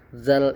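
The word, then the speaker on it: ذ: Dzal ini penyebutannya mirip dengan huruf sa di atas. Nah, ya. Huruf sa. Sa ini tadi kan di ujung lidah ya, di ujung lidah. Kemudian mirip dengan penyebutan huruf zal ini juga di ujung lidah za. Dza. Jadi za lidahnya tuh seperti digigit dza.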